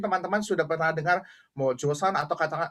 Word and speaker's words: Joseon: sudah pernah dengar mau josan atau kadang-kadang ditulis chosun tapi bahasanya bukan chosun tapi itu josan itu apa eh penulisan zaman dahulu ya penulisan zaman dahulu tapi sebenarnya dibacanya josan josan itu adalah dinasti